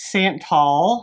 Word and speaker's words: Santal: It's Santal.